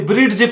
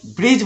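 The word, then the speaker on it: bridge: तो यहां पर ब्रिड्ज नहीं बोलना है, ब्रिज बोलना है, क्योंकि डी के बाद जी आ रहा है।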